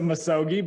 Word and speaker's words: misogi: So first off, I'll say that everyone gets the word wrong. Oh. It's a misogi, but that's okay. Misogi. Sorry. Literally, I would say probably 95% of people mispronounce it, and that's okay.